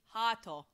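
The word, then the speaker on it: ハート: In Japanese phonetic is Hato.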